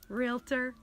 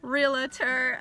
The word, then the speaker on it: realtor: you is it's just kind of funny it's pronounced realtor not realtor um you wouldn't call your hairstylist a stylist